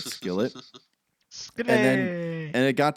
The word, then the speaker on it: Skillet: this ongoing joke where we pronounced it skilet instead of Skillet SK and and it